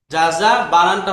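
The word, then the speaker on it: جَزَى: জাযা বানানটা হচ্ছে এরকম, হ্যাঁ এই যে জাযা, এরকম, এই যে জাযা।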